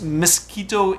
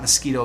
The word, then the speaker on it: Miskito: gonna mispronounce this but I think this Miskito Indians nas not mosquito mosquito Indians there's some sort of